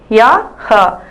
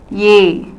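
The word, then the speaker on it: यह: அடுத்தது ஃபார்முலா பேசுறது, யா, ஹ. இந்த வார்த்தை யூஸ் பண்றப்ப என்ன, படிக்கிறப்போ யஹ், பட் நம்ம ப்ரொனவுன்ஸ் பண்றப்ப எப்படி பண்ணணும்னா ஏ, இவன்.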